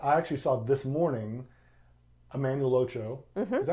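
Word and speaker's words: Emmanuel Acho: That I actually saw this morning, Emmanuel Ocho. Mm-hmm. Is that how you say his name? Emmanuel Ocho?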